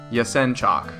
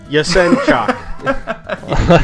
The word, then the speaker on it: Yasenchak: The sen is as though it's send without the D, and then the CHAK is chalk, as in like almost like chalk on a chalkboard but without the K. So Yasenchak, accents on the second syllable.